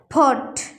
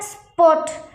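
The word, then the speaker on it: spot: বলে এসপারেটেড সাউন্ড কিন্তু পি এর আগে এস আসে তাহলে প আমরা প উচ্চারণ করব ফ উচ্চারণ করবো না যেমন এখানে ফট এটা কিন্তু ফট হইতো কিন্তু এটার আগে এস আসছে বলে এটা স্পট স্পট এইটি এর উচ্চার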